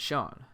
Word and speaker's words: Sean: there you have it that's the reason why my name is spelled scene and said sean i'm not going to